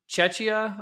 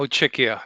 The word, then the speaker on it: Czechia: So, Ludek, you're from Czechia, I believe. Is that how you pronounce it? No, Czechia. Czechia. Because Okay. your pronunciation is similar to Chechnya, which is much more to the east.